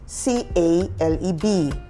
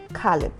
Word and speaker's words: Caleb: to have a colleague his name is spelled c-a-l-e-b okay and everyone knows that the pronunciation is Caleb yes that's that's even what the dictionary says but he says he doesn't want to be called Caleb he rather prefers to be called calip calip yes interesting so when